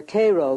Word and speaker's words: Cairo: Oddly enough, though, Illinois is sometimes referred to as Egypt because the fertility of the soil in and around Cairo, or Cairo giving it the Illinois pronunciation, resembles that of its Egyptian namesake.